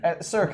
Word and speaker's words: SRK: Cirque is the pronunciation for it, yeah.